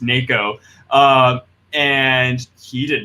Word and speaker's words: NACHO: of Houma file organizations so nacho spelled out what pronounced nako and he did not